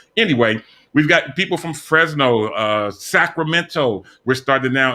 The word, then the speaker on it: Fresno: out into that area we've mentioned frisno a few different times or fresh notice the correct pronunciation of it my pastor says fritz no anyway we've got people from fresno uh sacramento we're starting